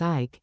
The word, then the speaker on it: Eyck: after him, the name of Ike, which is pronounced Ike, and is Dutch for oak.